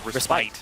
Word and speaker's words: respite: lesson that's like the Lamb's respit versus Lamb's respite they're both correct it's just English versus uh European pronunciation or I guess UK pronunciation yeah and funnily enough respit is the American pronunciation yeah which you wouldn't